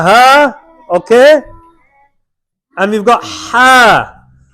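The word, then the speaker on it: ه: The Ha is pronounced at the bottom part of the throat.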